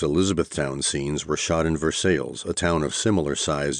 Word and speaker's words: Versailles: The Romantic French way would, of course, be Versailles, but too many Americans would inevitably pronounce it the same way that everyone in Kentucky did, Versailles, and that would have been a really dumb name for a movie.